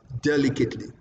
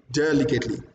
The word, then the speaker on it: delicately: But when it comes to Nigerian language, we say delicately. Nope. That is wrong. So the word is pronounced delicately. Again, delicately. All right.